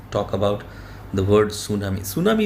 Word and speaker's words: tsunami: Tsunami is a Japanese word, and the T is silent, and we call it tsunami.